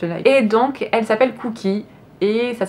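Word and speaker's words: Kouki: Et donc elle s'appelle Cookie. Et ça s'écrit K-O-U-K-I, donc c'est pas du tout les cookies comme les biscuits. C'est en fait cookie, c'est un nom en japonais.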